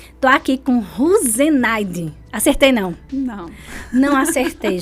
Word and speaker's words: Russenaide: Então, a pronúncia é Ruzenaide. Ruzenaide. Só que não para por aí. Não. É Ruzenaide. Ruzenaide.